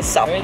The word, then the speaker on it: SUP: Attenzione alla pronuncia perché si si pronuncia SAP.